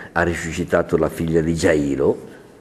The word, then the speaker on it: Giairo: resuscitato la figlia di giairo o giairo E comunque siccome tutte le parole ebraiche per sé finiscono come la francese con l'accento in fondo sarebbe già basta mettis